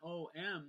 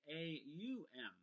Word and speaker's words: Om: certain ways and traditionally in the traditional teaching of ohm it's actually not om the way it's spelled or pronounced it's actually a um Oh and so that